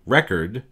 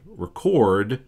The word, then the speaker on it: record: in English for example in English when you say record you're emphasizing the first syllable when you say record you're emphasizing the second syllable by adding stress to